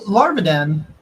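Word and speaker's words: Lavardan: So Larvaden. Larvadan. You're not supposed to pronounce the I. Larva Dan is what it is apparently.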